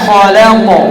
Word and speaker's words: خلق: শাররি মিন শাররি মা খালাক। খ উচ্চারণ করার সময় খ এরকম ঠোঁট যেন গোল না হয়, মোটা হরফ উচ্চারণ করার সময় ঠোঁট স্বাভাবিক থাকবে। খালাক من شر ما خلق